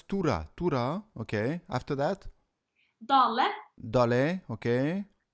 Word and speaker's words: Tora: God that stuff okay Tura so it's not Torah it's Tura Tura okay after that